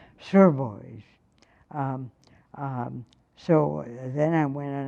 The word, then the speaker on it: Sotheby's: She said, "I shall be glad to tell you where it is if you will pronounce it properly. Sotheby's."